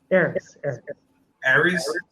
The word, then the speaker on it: Aris: Aris. Aris, yeah, like Paris.